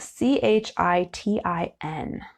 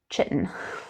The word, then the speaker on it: chitin: is made up of chitin and it's spelled c-h-i-t-i-n so it looks like chitin it's chitin and this is it's a